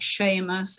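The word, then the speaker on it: Seamus: about irish people if they've got names like sheamus or shawn or ethner and i'm sure abbott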